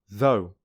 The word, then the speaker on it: though: which rhymes with how though which rhymes with toe bought which rhymes with